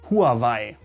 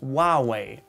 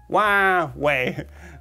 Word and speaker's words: Huawei: germans call this company huawei huawei that is incorrect though since you should be using the original chinese pronunciation which as far as i know is huawei huawei like in the way not not making fun